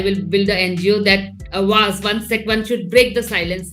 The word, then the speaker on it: Awaaz: You're building towards is it pronounced Awaaz? Huh? You are building toward Awaaz, the sanctuary for survivors.